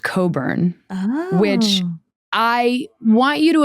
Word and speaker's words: Cockburn: It's pronounced Coburn, which I want you to imagine being a kid.